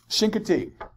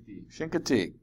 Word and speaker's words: Chincoteague: Chincoteague. Chincoteague.